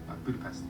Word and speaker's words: Budapest: from the budapest house yeah budapest no it's yes natasha is using the hungarian pronunciation calling back her exchange